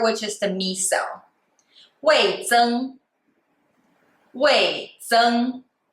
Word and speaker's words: 味增: 味增 is a 4 tone and the first tone.